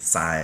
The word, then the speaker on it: Si: It's spelled S-I, but you say it Sai as in like.